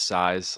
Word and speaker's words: Saiz: Uh yeah, last name is Size, like S A I Z, but it's pronounced Si Ze.